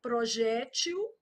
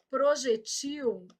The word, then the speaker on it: projétil: Projétil. Projetil e muda o plural.